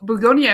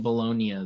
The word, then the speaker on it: Bugonia: Uh, Bugonia. I wanted to see I've been pronouncing it Bolognia this whole time.